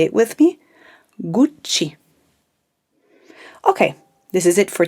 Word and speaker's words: Gucci: usually hear is that you tend to pronounce only one c so i tend to hear gucci but remember it's a double sound so stress it out a little bit gucci say it with me